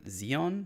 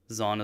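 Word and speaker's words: Zaun: pretty sure it's from zeon not zon i'm i don't think so i'm i'm very positive they said zone in the show zone is how the show pronounced it yeah you liar zeon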